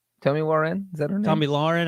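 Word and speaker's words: Tomi Lahren: me warren is that tommy lauren i think is how you pronounce it yes i'll have a crew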